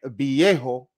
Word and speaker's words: viejo: Most people are going to pronounce this as a soft B sound, okay?